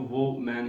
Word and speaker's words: woman: सारे लोग इसको वो मैन ही पढ़ते हैं और बज़ाहर जो हरूफ है उसे वो मैन ही लगता है, लेकिन ये लफ्ज वो मैन नहीं है। ये लफ्ज है वूमन। वुमन, दो सिलेबल्स हैं इसके।